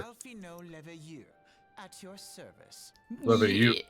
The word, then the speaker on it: Leveilleur: Leveilleur. It's Leveilleur. Leveilleur. That's not how you pronounce his last name, Mr.